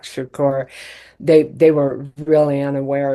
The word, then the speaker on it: Shakur: a rapper by the name of Tupac Shocker. He couldn't even pronounce his name, Tupac Shakur.